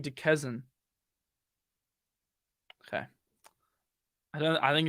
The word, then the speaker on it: Duquesne: Duquesne. I know that doesn't sound like Kane, but I don't know.